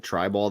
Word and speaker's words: Triball: with uh with old triball there um yes I do which is like eyeball but three so tribal I was